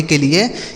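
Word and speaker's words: kill: यहां पर भी के साइलेंट है। मतलब इसको हम नहीं पढ़ेंगे। आगे के आई डबल एल इसे पढ़ा जाएगा किल। के आई डबल एल इसे पढ़ेंगे बच्चों किल।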